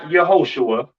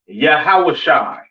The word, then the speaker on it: Yahawashi: and so on now Christ's name in Hebrew is not Yahweh it's not yahoshua all right it is yahawashi all right yahi all